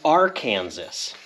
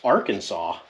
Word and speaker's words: Arkansas: The S in Illinois is silent for, you know, if you don't know that. And there's Kansas and Arkansas. Just kidding. It's not. It's Arkansas.